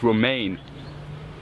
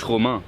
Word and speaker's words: Romain: It's not Romain. It's Romain.